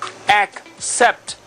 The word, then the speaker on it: except: letra en español serie aproximadamente see X set except this is one exception to the rule right